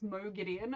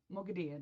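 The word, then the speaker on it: Moghedien: I can't I read her name as Mo Giddon and that's not how you pronounce it. Mogadian, right?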